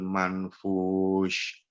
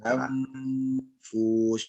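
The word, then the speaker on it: منفوش: Wa takunul jibalu kal'ihnil manfush. Thayyib. Di sini ada ikhfa ya Pak ya. Ada nun yang tidak punya tanda baca. Oh, iya. Maka numpang tanda bacanya siapa? Tanda bacanya si fa ya. Manfush.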